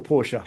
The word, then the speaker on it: Porsche: Now, also from Porsche, I don't know, one syllable or two syllables. Do I say Porsche or Porsche? I never know. Porsche, I got Porsche, two syllables for you.